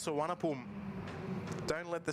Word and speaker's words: Suvarnabhumi: question but how is it pronounced it's it's pronounced San don't let the spelling fo you when I